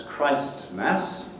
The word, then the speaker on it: Christmas: the only possible pronunciation the only possible pronunciation is christmas if you've been saying christmas then the tea can't be can't be pronounced in standard english consonant